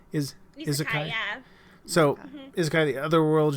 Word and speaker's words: Isekai: Isekai genre. Am I pronouncing that right? Isekai.